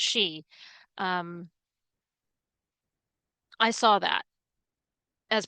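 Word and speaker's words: sidhe: the um, the she, it's pronounced she, the s i d h e, that is pronounced she.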